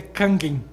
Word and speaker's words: Kangen: o que é água kangen a pois não se você perceba aí Isso aqui isso é uma carta que esse filosófico também na verdade a pronúncia de japonesa é canguim né a água Kang